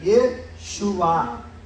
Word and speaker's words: Yeshua: Mas por que a gente fala Yeshua? Por causa do hebraico moderno. Pós-cativeiro babilônico, pararam de pronunciar. E no hebraico, A mais O é igual a Ye. Como que fica? Yeshua. Então é aceito Yeshua por causa da escrita em hebraico.